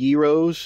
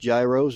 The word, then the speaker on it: gyros: called mag Greek cafe they've got really good Yos it's not pronounced Gyros it's pronounced yos and there's the fact of